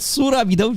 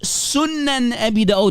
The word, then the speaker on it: Sunan Abi Dawud: It's Sunan Abi Dawud, not Surah. It's not the Quran, ya jahil. It's from the Kitab al-Sitta, the 6 books. Sunan Abi Dawud, hadith number 4933.